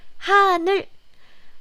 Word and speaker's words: 하늘: When you use this real sound at the end of the syllable, then it's closer to L sound. But again, it's not so tensed.